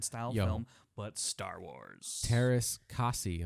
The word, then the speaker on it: Teräs Käsi: Teräs Käsi, that's how it's pronounced, right? Teräs Käsi.